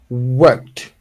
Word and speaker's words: worked: tense and you say worked repeat after me worked worked worked exactly worked yes worked worked so you do not pronounce the the e okay or you can